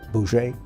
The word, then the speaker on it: Bose: There were the Gandhi types, who were nonviolent, and then there was a Chandra Bose, who it's spelled B-O-S-E, but it's pronounced something like Boucher.